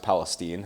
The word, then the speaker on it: Palestine: Yes, it's pronounced Palestine.